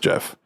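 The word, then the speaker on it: Gef: The Jeff, spelled G-E-F, but pronounced Jeff, is referred to as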